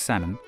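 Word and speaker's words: Salmond: leader this man Alex sammon you don't pronounce the L like with the fish became Scotland's first Minister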